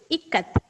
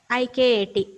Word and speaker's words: Ikat: The exact pronunciation is Ikat. I-K-A-T.